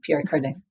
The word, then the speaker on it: Pierre Cardin: And it was indeed Pierre Cardin. But he would say it like, like Kardashian.